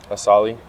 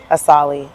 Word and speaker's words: Asaali: So how do you pronounce it? Asaali. Asaali. Okay, Yeah. and what does that mean? It's some designer shit for real. So, you know, like Gucci, Louis, Versace, Asaali.